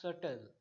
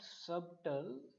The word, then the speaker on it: subtle: So, the pronunciation of this word is subtle, not subtle. It appears like subtle, but the actual pronunciation is subtle. S-A-T-L, subtle, subtle. You have to pronounce like this, subtle.